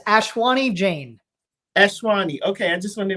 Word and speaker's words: Ashwani Jain: ashwani how do you say it yup it's ashwani jane ashwani okay i just wanted to make sure